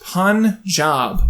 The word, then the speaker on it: Punjab: So I'm gathering that it's pronounced Punjab, which doesn't sound right to me. Or at least it won't sound right when my white ass says it.